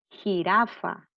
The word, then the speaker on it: jirafa: La palabra jirafa. Jirafa lleva la sílaba tónica en la penúltima sílaba, que es la sílaba ra, pero no se tilda porque termina en vocal.